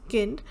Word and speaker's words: Kind: So you can see that kind in English is nice, but kind, the pronunciation is kind, that is in German as child.